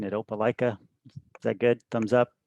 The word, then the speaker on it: Opelika: and i just want to make sure i'm pronouncing it opelika is that good thumbs up got it right